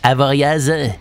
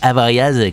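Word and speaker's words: Avoriaz: son palmarès avec can avorias oui moi je vais le prononcer avorias comme ses présentateurs JT télévisé parce que bon j'ai toujours entendu comme ça et en plus je préfère ça fait plus science-fiction bon bref avec can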